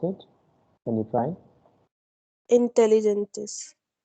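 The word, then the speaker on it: inteligentes: Intelligentes. I just told G and E comes together, then this is the pronunciation of that part.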